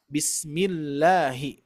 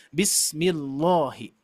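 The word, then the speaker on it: بسم الله: Maka dari itu diperhatikan kalau misalkan sebelumnya kasroh baru dibacanya tarkik, dibaca la, bismillahi ya. Jangan sampai bismillahi gitu ya.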